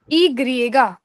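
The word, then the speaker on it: i griega: यस वाई को कैसे pronounce करते हैं? इ ग्रिएगा।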